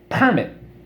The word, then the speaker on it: permit: alright you got it permit accent is on the first syllable which is a permit